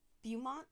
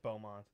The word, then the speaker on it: Beaumont: hold on i want you to try and pronounce that uh the name of that city in texas dumont a lot of dead times that is beaumont i thought there was some crazy pronunciation that